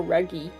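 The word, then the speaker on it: Ruggie: When they pronounce it in the Japanese, they go Ruggy. Like a rug.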